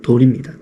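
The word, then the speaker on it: 乭: 돌이란 뜻이에요. 발음도 돌입니다.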